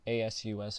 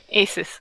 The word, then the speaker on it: Asus: bucks it was like I was i can't pronounce it was like a su s or some like there Wow yeah we have